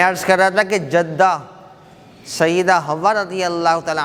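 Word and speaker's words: جدة: تو وہاں پہ بھی آپ جدید عربی میں بھی جدہ جدہ کا تلفظ ہی سنیں گے. حالانکہ صحیح تلفظ جو ہے اس کا کیا ہے؟ جدہ.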